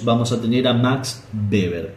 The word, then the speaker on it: Weber: a tener a Max beber que no se dice Weber se dice beber alemán que va a